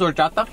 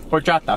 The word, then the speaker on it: horchata: You really don't want this horchata? Say it right, and you can have it. Horchata. Horchata. I'm rolling my R's. Say it together. This is a pen. 1, 2, 3. Horchata. No. You're saying or.